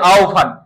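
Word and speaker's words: আহ্বান: এটা ভুল মনে রাখবা হব এর আগের বর্ণটা দেখতে হবে অকার কিংবা আকার থাকলে ওভ হবে রস অথবা দীর্ঘকার থাকলে উভ হবে সিম্পল আহবান কি হবে আহান জিহবা জিউভা বিহবর বিউভল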